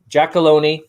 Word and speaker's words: Giacolone: Well, Giacolone, rhymes with baloney, Recipes for Success, Olympic Crest Insurance.